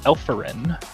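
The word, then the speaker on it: Elforyn: um it is called elferin i've not worked with it uh alpha n is spelled e-l-f-o-r-y-n um so like elephant um so it's it's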